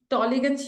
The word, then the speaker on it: Tollygunge: She has also been the president of a Rotaract club of Tollygunge, if I get that right. Ma'am, can you please pronounce that for me, please? It's Tollygunge Yuva.